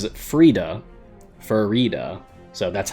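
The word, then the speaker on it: Farideh: And she pronounces it as if it rhymes with fajita. That's how I remember it. So the author herself pronounces it Frida, Farida.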